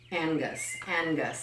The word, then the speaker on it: Angus: Angus is the pronunciation phonetically.